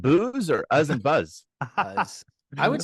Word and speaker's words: Uz: U-Z, but it's pronounced Uz. like Uz. Yep. Uz, you could say Uz. It's a short vowel in Hebrew. So is it Uz and booze or Uz and buzz? Uz.